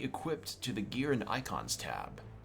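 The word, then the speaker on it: Eikon: icon of Earth and I'm not pronounce it icon like I've heard people still go like Akon or or go icon or Aiken but I'm gonna go icon since it's how the people in the game pronounce it dance encounter new icon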